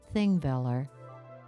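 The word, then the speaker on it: Þingvellir: The Icelandic word Thingvellir is formed with an ancient letter called the thorn and is pronounced like the English th, as in the.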